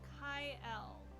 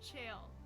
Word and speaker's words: Chael: Hercules says, is it Kai-El? It's, hold on, Chael. It's Chael.